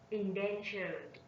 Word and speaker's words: endangered: Endangered. Endangered. Endangered. They are adjective and threatened stressed on the first syllable, while endangered stressed on the second syllable.